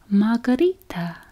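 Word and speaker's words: μαργαρίτα: Daisy, pronounced margarita. Hey, didn't know that.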